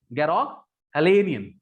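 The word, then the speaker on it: Garoghlanian: Every branch of द गैरोहेलियन, अच्छा ये गैरोहेलियन जो है ना, इसका प्रोनाउंसिएशन काफी जगह मैंने चेक किया, काफी डिफरेंट है। सो मेरे को सबसे बेस्ट प्रोनाउंसिएशन यही लगा, गैरोग हलेनियन।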